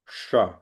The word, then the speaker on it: ष: इस श अक्षर को मूर्धन्य शकार कहते हैं। इसका उच्चारण मुंह में मूर्धा स्थान अर्थात तालु के ऊपर से जीभ लगाकर करना चाहिए।